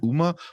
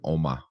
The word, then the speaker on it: Umma: Oma, I think how you say it. I kept saying Uma, but I think it's pronounced like Oma because it's like Oh, Korean. Because Sandra Oh said it